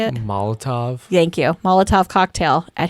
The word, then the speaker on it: Molotov: Florida, allegedly tossed I don't know how to pronounce this, Molotov cocktail. How do you say it? Molotov.